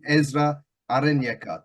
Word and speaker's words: Ezra Arenyeka: Right, here for Punch Out Boxing with a special guest, the African King himself, Ezra Arenyeka. Did I pronounce that right?